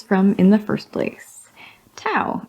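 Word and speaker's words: Tau: in the first place Tao is simply towel to rhyme with cow they don't you say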